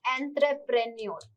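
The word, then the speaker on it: entrepreneur: में गलती होता है एत्र प्र और न्योर इसको मिला ही आपको बोलना पड़ेगा एंटरप्रेन्योर यह इसका सही क्या है उच्चारण है उद्यम उद्यमशीलता उद्यमी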